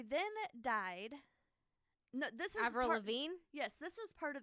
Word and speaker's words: Avril Lavigne: go on the list now I'm nervous uh Avril Lavigne oh I said it right you just said it right yeah right I said it slowly though yeah okay so Avril Lavigne um she supposedly was replaced by a woman